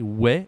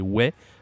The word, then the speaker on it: ouais: In French, we do say oui, but also say ouais a lot. So we don't pronounce the S at the end. Say ouais, tranquille, like peaceful, tranquille.